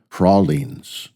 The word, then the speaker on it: pralines: So when we went to buy what are they pralines I first asked how do you pronounce this which is why we now call them prolines.